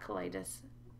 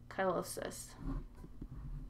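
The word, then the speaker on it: cheilosis: It's not colitis, chylosis.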